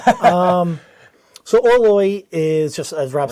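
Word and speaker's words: Orloj: I got Orloy right. Um so Orloy is just as Rob said. We have so many people correcting us in the comments. It is Orloy.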